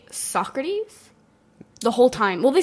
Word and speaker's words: Socrates: They're both about Greece because, of course, obligatory Greece nitpicks is A, they say Socrates the whole time. Well, they say Socrates.